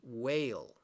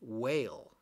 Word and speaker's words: whale: sound eh so here when you have the silent e at the end which we have here in whale it makes the a long way a a whale okay and we know